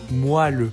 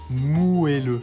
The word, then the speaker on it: moelleux: Vous aurez déjà peut-être remarqué que certaines personnes prononcent ce mot moelleux, avec le son A, en contraste du son E. Et bah, c'est pas anodin, parce que ce qu'il faut savoir, c'est que la prononciation originelle, qui date des 15e et 16e siècles, était avec un E, et ça s'écrivait moelleux.